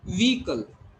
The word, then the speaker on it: vehicle: V. Long E sound is there. It is vehicle. Then weak A is there, and then cull. Okay, it's vehicle.